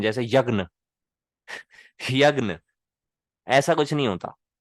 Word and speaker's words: यज्ञ: लेकिन कुछ वैदिक मंत्र हैं, उसमें ये बहुत इंपॉर्टेंट है कि आप इसकी रियल प्रोनाउंसिएशन को ही समझें, जो कि है ज और या, यानी जय, यज्ञ, यज्ञ।